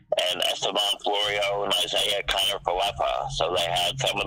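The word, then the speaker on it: Kiner-Falefa: Isaiah Connor Falefa. Yeah, Connor Falefa. Isaiah. Joey Gallo, Esteban Florio. Yes, and they also had Florio in there, and Joey Gallo, and Esteban Florio, and Isaiah Connor Falefa.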